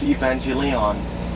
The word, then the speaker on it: Evangelion: the way I pronounces Evangelion some people told me it's evangelia on yeah because they see the lion in the end yeah they see the